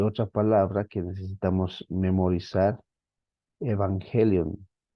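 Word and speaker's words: εὐαγγέλιον: palabra que necesitamos memorizar evangelion evangelion esta ng o mejor dicho estas dos gamas se pronuncian como la primera como una n perdón y la segunda como una G una G evangelion buena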